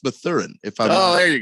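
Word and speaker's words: Mathurin: yeah he's the man i don't think his name is math urine yeah i believe it's pronounced the thurin if i don't there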